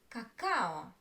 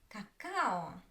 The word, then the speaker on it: какао: Let's look at another word, cacao, cacao. Where is the stress? The second, cacao, cacao. You see? This stress syllable I pronounce longer than others, and I don't put much my attention to the other syllables.